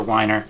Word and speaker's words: Weiner: chose is the littlest Big Foot by Jennifer whiner that's how you pronounce it and a frequently asked questions on